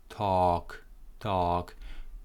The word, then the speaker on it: talk: No L, talk.